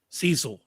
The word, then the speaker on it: Cecil: is going to be cesil Cecil not cesil same same John John